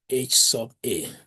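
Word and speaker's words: Hₐ: We are going to pronounce it as H sub A.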